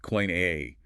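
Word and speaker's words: Koine: And in coin a greed pronounced coin a reference items like personal pronouns, demonstratives, and relative pronouns are the primary breadcrumbs.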